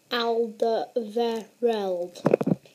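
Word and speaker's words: Alderweireld: and by the way if you want to know how how to pronounce it Al veral so he's obviously a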